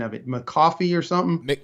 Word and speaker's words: McAuliffe: running for governor terry help me with the pronunciation of it mccoffee or something mick mcauliffe mick olive mcauliffe okay that's been throwing me